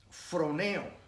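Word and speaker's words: φρονέω: perdóname en hermano sentir en griego así se pronuncia from eo y significa pensar escuchen tiempo vamos a estar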